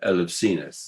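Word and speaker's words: Elefsis: new identity for uh elephants the modern pronunciation of ellucis and so as part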